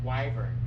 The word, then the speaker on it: wyvern: I don't know how do you pronounce it? The Revan? What's the dragon that starts with W? Wyvern.